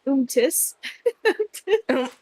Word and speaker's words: umtis: Untis. Or untis. I don't have. I don't have. I pronounce it umtis. Umtis. Umtis. Umtis. That's how I pronounce it.